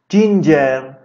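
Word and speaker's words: ginger: جینجر، جینجر این جیا جی تلفظ میشن، ج ج.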